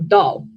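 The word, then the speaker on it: 到: You see, the Chinese word for upside down, which is pronounced dao, sounds phonetically identical to the Chinese word for arrive or pour out, which is, you know, dao.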